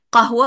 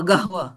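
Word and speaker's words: قهوة: nah tapi tulisanya tetap qanatun menggunakan Q tapi pengucapannya G Iya macam-macam orang Mesir Panggil qahwa bukan qahwa apa gahwa Nah begitu qahwa Jadi goahwa gahwa Iya betul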